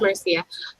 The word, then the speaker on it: Marcia: Is it Marcia? How do you say her name? Marcia Barlow? It's Marcia.